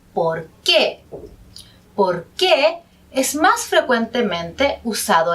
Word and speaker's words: por qué: de cuando usamos porque fíjense que la segunda palabra que tiene un tilde y por lo tanto el énfasis entonces se pronuncia por qué porque es más frecuentemente